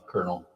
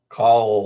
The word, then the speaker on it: colonel: Uh colonel. So it's spelled c o l o n e l. It looks like colel or something like that.